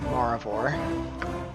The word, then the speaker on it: Maravor: I'm going to pronounce it Maravor.